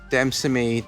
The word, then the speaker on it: Demesne: We're currently sitting in Armagh at the Demesne Palace Demesne Park, which is spelt entirely incorrectly because there's an S in it.